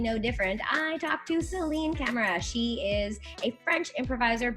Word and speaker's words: Celine Camera: way from luxembourg the very kind and wonderful celine camera in fact is that how you pronounce your name or am i saying it